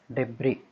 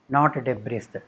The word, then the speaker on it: debris: That C is silent, not indict. You say indict. Debris, DEBRIS, debris, not debris, debris.